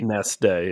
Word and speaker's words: Wednesday: Wednesday, yeah. Right. The D's before the N, and everybody says Wednesday for some reason.